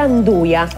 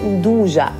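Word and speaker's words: 'nduja: Ah, scommetto che la maggior parte di voi la chiami ancora Anduja, ignorando che la pronuncia corretta sia proprio Ndugia, parola dei spilingesi, e quindi 0-0 palla al centro.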